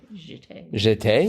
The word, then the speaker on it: jeté: Jetes. Jeté? You think it's French. I know, but I doubt they'd pronounce it in English like they would in French.